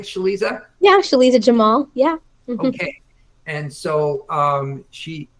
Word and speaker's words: Sheliza Jamal: Did I pronounce that right, Sheliza? Yeah, Sheliza Jamal.